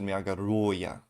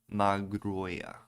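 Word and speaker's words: Magerøya: How to pronounce Nordic O with a slash through? The I in girl. Bird. Bird. So this is Magaroya. Magroya.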